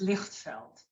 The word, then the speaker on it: Lichtveld: is it Lichveld? It is Lichtveld.